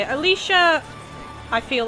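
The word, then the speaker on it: Alisha: so Alicia yeah that's how you say it Alicia I feel like she is going to be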